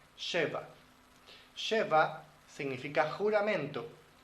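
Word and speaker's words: שבע: 7 en hebreo se pronuncia Sheva. Sheva.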